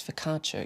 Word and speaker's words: focaccia: It's focaccia, you pronounce. So paralaccia.